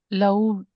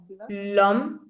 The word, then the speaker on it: l'homme: H is silent. It's always silent in French.